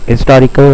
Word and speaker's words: historic: In modern standard English it is much more common to use the historic because the H is now typically pronounced.